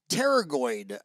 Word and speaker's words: pterygoid: those bones essentially so the p is silent it's pterygoid um correct yeah paraguay